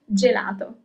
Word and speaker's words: gelato: Gelato.